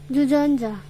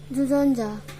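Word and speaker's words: 주전자: Now I'll teach you how to pronounce it. Jujonja. Jujeonja, Jujonja as teapot.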